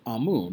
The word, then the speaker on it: Amun: Now, the name you can see here, Amun, Amen, it's spelled differently sometimes, but it's Amun, like Amun-Ra.